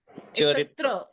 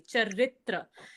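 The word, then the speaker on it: चरित्र: Uh firstly the pronunciation is chitra. Charitra. Huh. It's not a Y but R A. Charitra.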